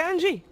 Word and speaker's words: Anji: name and the team the Jane Angie is like a G sound brother and G & G okay Angie I can do that